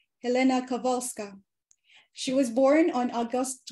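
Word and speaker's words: Kowalska: in um Polish language W becomes letter V so it's pronounced Helena kavalska she was born on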